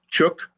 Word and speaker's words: Chook: Sure, it's Chook, C-H-O-O-K.